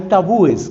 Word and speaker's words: tabúes: entonces hay valores hay tabúes Qué son los tabúes entiendo que se puede decir también tabús pero me gusta más la pronunciación tabú es qué es un tabú